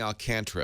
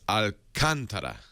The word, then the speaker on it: Alcantara: Well, I know I was saying Alcantara at first. So it's Alcantara. Alcantara. Except that's not how I- Microsoft look, pronounced it in that I'm video.